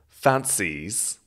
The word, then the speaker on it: fancies: her who she fancies and the stress or the emphasis is very much on the final syllable of fancies fancies repeat after me i